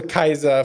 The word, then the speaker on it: Caesar: unfortunate but terrible it's also Kaiser for Caesar like that was how they would pronounce it so you guys got